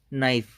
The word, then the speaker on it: knife: उसे हम ये तो लिखते हैं ना, KNIFE। ठीक है, पर यहाँ के तो क्या है, हमारा मूक वर्ण है, साइलेंट है मतलब ये। ठीक है, तो हम इसका उच्चारण नहीं करते, हम नाइफ का करते हैं ना उच्चारण।